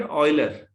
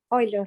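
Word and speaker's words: Euler: अच्छा, इस आदमी को तो जानते ही होंगे, ये फ्रेंच नहीं है, स्विट्जरलैंड का है। इसे क्या पढ़ेंगे? इसे पढ़ेंगे ऑयलर। ऑयलर। हाँ हाँ, ऑयल होता है तेल जैसे बोलते हैं, ऑयलर।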